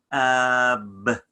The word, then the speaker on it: ܐܒ: Beth, we learned that if I have a big dot above it, it sounds of heavy B. Ab.